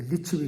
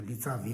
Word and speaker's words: लिच्छवी: समृद्ध और शक्तिशाली, ये लिच्छवी गणराज्य की राजधानी थी। लिच्छवी गणराज्य, इसको हमारे बोटी भाषा में विद्वान लोग उच्चारण जो है गलत करते हैं, उसको लिच्छावी बोलते हैं। लिच्छावी नहीं है, ये लिच्छवी है, एक जात विशेष का